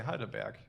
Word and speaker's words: Heidelberg: I would say Heidelberg, so you were pretty close.